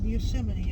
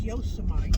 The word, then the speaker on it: Yosemite: No, it ain't pronounced Yosemite. It's Yosemite.